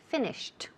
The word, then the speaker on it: finished: For example, finish, okay, el verbo to finish, cuando pasamos al pasado, ese ed, el último sonido, it sounds like a T, right? Finished, all right? Aunque se escribe con ed, suena like a T.